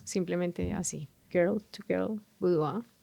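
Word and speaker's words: boudoir: Girl to girl budua. En budua se escribe b o u d o i r. Pues porque es una palabra en francés.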